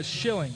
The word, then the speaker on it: Schilling: Uh, Schilling. S or I was about to spell it for you, too, but it's Schilling. Like like the English currency.